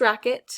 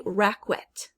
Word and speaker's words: racket: q u next is racket racket so this could be a tennis racket for example something used to play a sport and we don't say rackwet it's racket right so